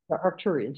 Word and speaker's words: Arcturians: of times the aarian I know you corrected me on how to say it say it again for me aruan arcturians yeah yes from the AR Arcturus